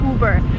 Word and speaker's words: Uber: you burn it again you do not follow American pronunciation rules here you just say uber so Lincoln uber